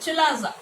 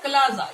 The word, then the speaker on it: chalaza: Opposite end towards this micropyle is called chalaza or chalaza, your pronunciation, chalaza end.